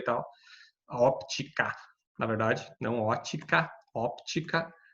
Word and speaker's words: óptica: a parte de ótica, só que óptica, na verdade, se pronuncia óptica, porque é ótica sem P, é o estudo do ouvido. Óptica com P é o estudo da luz, da como a gente enxerga a luz e tal.